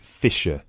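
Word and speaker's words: Fischer: me your full name sure it's Mr fiser okay sorry how do you spell your surname it's spelled f i s c h e r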